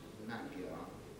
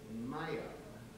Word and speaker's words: Maya: And it's not Magyar, as Nick's pronounced it, it's Maya.